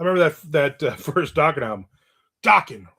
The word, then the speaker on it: Dokken: Dokken rhymes with rockin'.